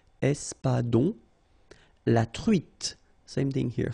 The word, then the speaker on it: espadon: O-N in your nose, nasal, on, espadon, la truite, same thing here, final E not pronounced, t, la truite, le maquereau.